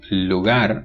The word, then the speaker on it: lugar: vo verer frive this Syle so the word Lugar is pronounced Lugar the alular pive The Voice alular